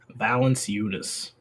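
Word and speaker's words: Valančiūnas: That's not how you pronounce it. It's Jonas Valanciunas. Valanciunas.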